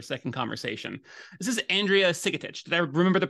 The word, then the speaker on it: Sigetich: on for a second conversation this is Andrea sigit did I remember the pronunciation right that sigit you did beautifully yes thank you um I